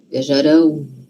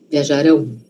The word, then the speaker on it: viajarão: Quando é um O de verdade, a gente fala ele forte, porque é um O. Viajarão.